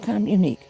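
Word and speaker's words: communiqué: It's pronounced communique. Yes, you did it. So sweet. That doesn't sound like that's good. Communique.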